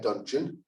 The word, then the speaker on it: Dungeon: 2 over 2021 term my name is dungeon um pronounced like luncheon but with a d you know maybe i've